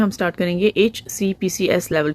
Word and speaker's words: HCPCS: HCPCS level 2 codes को pronounce करने का सही तरीका क्या है? इनको कहते हैं HCPCS, HCPCS, HCPCS, HCPCS।